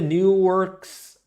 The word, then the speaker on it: Newark: I think the new works are pronounced differently. Okay, I pronounce Newark new work. Okay, I'm a Cali person. That's how we say it here in California.